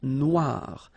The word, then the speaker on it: noire: Then here, la mer Noire. Same thing here. That we had previously, final not pronounced, okay? And then OI, remember, wa wa wa, noir, noir. La mer noire, okay?